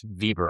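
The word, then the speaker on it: Weber: a guy use German a guy name Max Vber I believe is how you pronounce vber and he wrote a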